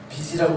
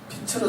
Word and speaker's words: 빛: 우리가 항상 이 발음 실수를 많이 하시죠. 한국인들이 항상 실수를 많이 해요. 우리는 빛이어야 되는데 자꾸 우리는 빚이라고 하시는 분들이 있어요. 우리는 빚이라고. 그러니까 인생을 자꾸 빚지고 사시는 거예요. 빛으로 사셔야 돼요.